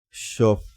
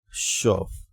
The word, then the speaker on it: Schaff: strategy and this time it's called the shop shop trend cycle yes it's spelt s c h a w f f c